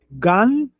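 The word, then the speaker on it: גן: Nesse caso vai ser G A N G.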